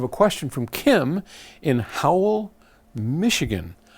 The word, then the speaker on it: Howell: question from Kim in Howell Michigan how know it's spelled H o w e how often do you get the howl on YouTube right I don't